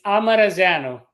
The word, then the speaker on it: Amarazeanu: It's Amarazano. Amarzano. Amarazano.